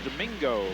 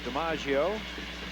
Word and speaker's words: DiMaggio: It's spelled like looks like it's Domingo, but it's DiMaggio.